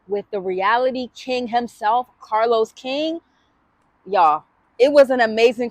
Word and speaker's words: Carlos King: So we are here with reality TV kings, Carlos King.